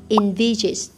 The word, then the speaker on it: envisage: And then envisage. How do you say that? Envisage. Envisage. Like envisage. In, right? Not en. Envisage.